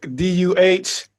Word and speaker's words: Des Moines: So it's almost like DUHMOINE, you know? So Des Moines, the S is silent. Yeah, Des Moines, Iowa, man.